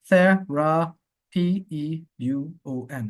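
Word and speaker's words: θεραπεύων: Thera P-E-U-O-N. Watch it. This character, U with an accent. Here it is. But this one, they pronounce it like carison. And here it's pronounced as a oo, right?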